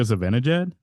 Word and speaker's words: Zibanejad: Mika Zibanejad?